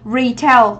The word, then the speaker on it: retail: Chúng ta đọc là gì? Retail, đúng không? Retail thì chúng ta có ngay yêu giáo, đó là trọng âm mấy? Trọng âm 1, đúng chưa?